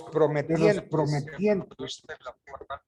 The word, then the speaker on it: prometiente: Entonces significa lo anterior que si uno de los prometientes, yo no sé, generalmente se escribe promitente. No es promitente. Es prometiente, porque yo prometo.